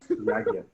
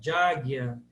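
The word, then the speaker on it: yajña: errada a pronúncia Jamuna, está errada a pronúncia Guiana. Não estão exatamente erradas. Essas são pronúncias contemporâneas. É como os indianos falam essas palavras. Na Bengala se fala assim, porque o sânscrito teve transformações, então nas línguas neossânscritas hoje faladas na Índia, esses sons mudaram.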